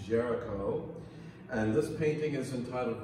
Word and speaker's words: Géricault: are some french names ger ica ult is pronounced jericho and this painting is entitled raft of the